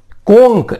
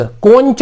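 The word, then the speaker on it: conch: कोंक, इसको ध्यान से पढ़िएगा, ये है कोंक, कोंच नहीं पढ़ना है, कोंक। कोंक ये शंख होता है, तो कोंक में हमने क्या लगाया, एस। क्यों? क्योंकि सी एच का उच्चारण क्या बोल रहे हैं हम, क।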